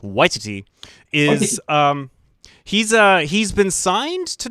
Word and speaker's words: Waititi: Taika Waititi, I believe it's pronounced Waititi, is he's been signed